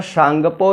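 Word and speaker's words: Tsangpo: चेमयुंगडुंग glacier से निकलती है एक नदी जिसे तिब्बत के पठार पर सांगपो या सांपो कहते हैं, टी साइलेंट है इसमें।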